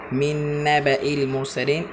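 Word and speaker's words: مِنْ نَبَإِ الْمُرْسَلِينَ: এখানে যদি আলিফে জায়দা না আসতো তাহলে এইভাবে উচ্চারণ হতো মিন নাবাইল মুরসালিন। মিলে না, দেখতে পাচ্ছেন আপনারা, এখানে কিন্তু কোনোভাবেই মিলে না। এখানে আলিফে জায়দা আসছে, অর্থাৎ না টেনে পড়তে হবে।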